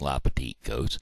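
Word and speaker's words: Les Petites Côtes: Charles Missouri yes sir founded in 1769 as lucky la Petite coats yes sir that's the little Hills well in French it's la petite goats and the reason it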